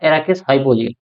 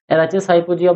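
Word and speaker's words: Arachis hypogaea: एराचिस हाइपोजिया कुछ लोग बोलते हैं, कुछ लोग बोलते हैं एराकिस हाइपोजिया। तो जो भी बोल लो, एराचिस हाइपोजिया बोल लो या फिर एराकिस हाइपोजिया बोल लो, कहने का मतलब ये है कि स्पेलिंग आपकी सही होनी चाहिए बस।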